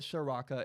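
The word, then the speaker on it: Ciarrocca: the time Kirk sharafa it spelled to the C but you call it Soraka it's very weird whatever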